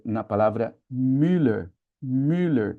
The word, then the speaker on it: Müller: Müller, que no Brasil a gente leva, escorrega mais pro I e fala Miller, não é? Ninguém fala Müer, acaba assimilando mais com o I.